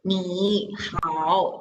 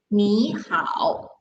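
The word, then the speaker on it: 你好: say hi to someone we are not reading me how because that is too difficult to pronounce so we change the first word into second tone that's why when we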